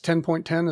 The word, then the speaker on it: OS X: pronounce that OS X 10.10 is that correct uh officially it is you are supposed to say uh Mac OS 10 uh you are supposed to say 10 not X but uh everybody so